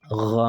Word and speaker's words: غ: That is for ghain. Now, the common error that we have with it, number one, people pronouncing it like this, mug. Mug. G. They're pronouncing it like g. It's not g.